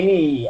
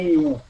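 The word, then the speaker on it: ν: Então, quando se usa aí o mi, por exemplo, com u e o ni com u, é o u alemão. Não é o nosso u, por isso que a pronúncia é de i. Por isso que fica ni ao invés de nu.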